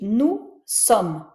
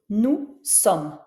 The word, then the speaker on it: nous sommes: Donc, c'est le cas ici, nous sommes. Tu vois, je prononce pas le S de nous, nous sommes.